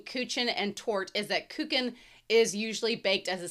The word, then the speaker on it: Kuchen: Their names are Kuchen, again with the ch like in doc. A couple episodes ago, cake or tort layer cake. The main difference between Kuchen and tort is that Kuchen is usually baked as